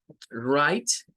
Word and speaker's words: write: Bueno, write es de estas palabras que comienzan con WR, donde la W pierde un poco el sonido, ¿verdad? No se escucha mucho. Se escucha a partir de la R y luego esta I se hace larga como I y esta es como muda. Esta sí es la Magic I, es decir, la letra E no suena, pero le traslada un